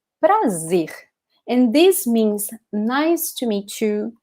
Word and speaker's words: prazer: Prazer. Prazer. Okay? So the first syllable can be tricky. So it's important to practice this R, which is right in the edge of your tongue. So pra, pra, pra.